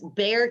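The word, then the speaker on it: Bexar: an operation sure it's bear county it's actually spelled b-e-x-a-r but pronounced bear county in texas it's in san antonio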